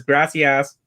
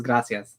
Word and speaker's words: gracias: i say thank you he says grassy ass because in spanish it's gracias yeah yes i know